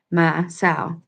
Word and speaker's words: Maasaw: U, and other ways, each of these names for this awesome Hopi deity is pronounced the same. Ma, like the sound of a bleeding sheep makes, and so, like the noun for female pig, or sow, sorry. Ma, sow.